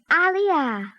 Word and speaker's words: aliyah: Youth aliyah.